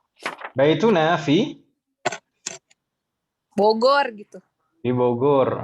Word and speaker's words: Bogor: di Bogor. Bogor bilangnya Om ya, jangan bujur. meskipun tulisannya nanti pakai Jim, jangan bilangnya tetap bacanya seperti aslinya Bogor.